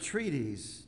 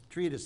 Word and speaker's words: treatise: the slippery slope this is an extended uh I guess you can use that word treaties Treatise Treatise that's the right way to pronounce it a serious Treatise about